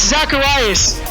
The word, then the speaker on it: Zaccheus: So then I say, yeah, it's Zacharias. It's spelled Zaccheus.